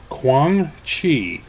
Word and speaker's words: Kwang Chi: I think the way it's spelled, it should be pronounced like this. It's the Eye of Kwang Chi.